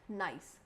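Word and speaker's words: gneiss: फिर है नाइस, this is pronounced as नाइस।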